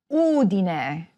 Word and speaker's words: Udine: However, some words are stressed on the third-to-last syllable, such as MAntova, GEnova, Udine.